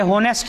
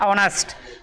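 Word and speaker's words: honest: ही इज, ये होनेस्ट नहीं पढ़ा जाता है, जिन लोगों को पढ़ने की समस्या ये पढ़ा जाता है ऑनेस्ट, इसमें एज साइलेंट है तो एज ऑनेस्ट।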